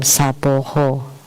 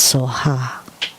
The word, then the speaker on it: Soha: In Taiwan, Soha became Saboho, Sabohe. 我已经讲了。 I've talked about this. 人在念咒、念唱诵，到最后 So when Taiwanese chant, 其实是所哈。 they would chant Sabohe. Actually, it's Soha.